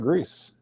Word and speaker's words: Grese: But his name is his name is Grese. You gotta roll the R.